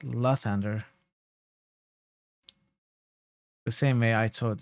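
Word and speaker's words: Lathander: so yeah in the first game this was pronounced lothander in this game it's pronounced la thunder the same way i thought it should have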